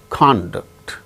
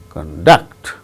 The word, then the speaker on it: conduct: verbs instance conduct conduct the first syllable gains the stress when it is used as noun conduct when it is used as verb conduct examinations are conducted okay